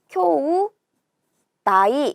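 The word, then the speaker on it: 兄弟: 됩니다 아니 가 되고 여기에 딱 아 아우 채 자를 써서 형제라고 하게 되면 그때는 요 쿄우 나이 라고 해서 테이 도 아니고 때도 아니고 나이 라고 읽어줍니다 형제는 q5 다 기억해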